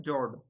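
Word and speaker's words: fjord: अगला हमारा टर्म है जॉर्ड। यहाँ पर जो एफ वर्ड है वो साइलेंट है।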